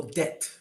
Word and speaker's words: debt: is another word for debt that is a silent b means you're in debt